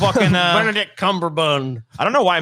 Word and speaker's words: Cumberbatch: have you guys seen this sherlock with benedict cumberbund or whatever the cumberbund yeah he don't uh benedict cumberbatch i don't know why mispronunciations are so funny